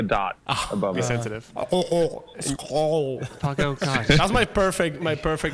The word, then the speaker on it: skål: Skål. Skål, that's Skål. right. Yes. Skål. Yeah, but it's not SKOA. It's not SKOAL. It's SKOL. Umlaut.